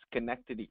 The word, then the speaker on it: Schenectady: assistant district attorney and the way to pronounce this pronounce this county is schenectady county uh thank you sorry